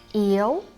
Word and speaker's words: yếu: So for example, yêu, flat tone, yêu means to love. It has totally different meaning with yếu, up tone, means being weak.